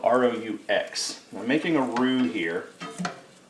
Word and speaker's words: roux: and what I'm making is what's called a roux it's spelled r-o-u-x we're making a roux here and this is